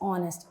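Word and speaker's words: honest: इट्स ऑनेस्ट एज is silent over there.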